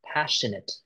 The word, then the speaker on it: passionate: Passionate. Passionate. No, not not the S. It's sh passionate.